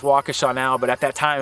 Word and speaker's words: Waukesha: popped up off the map I know it's pronounced Waukesha now but at that time I didn't know